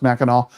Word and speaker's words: Mackinac: Mackinac. It's spelled Mackinac, but it's pronounced Mackinac. We're going to try to go to Mackinac Island.